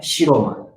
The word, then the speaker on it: Shiroma: Bom, sobrenome hoje, por exemplo, o meu sobrenome é Shiroma. O sobrenome hoje é Shiroma. Antes da guerra era pronunciado Bushikuma, porque, bom, aí o porquê? Depois da guerra, pelo menos juntou o pessoal do Munchu, do meu Munchu, e decidiram usar a leitura japonesa Shiroma.